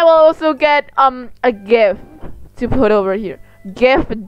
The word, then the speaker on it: GIF: also get um a gif to put over here gif jeff hiffler however the you say j i f that's how you pronounce it it's g not a j m g i f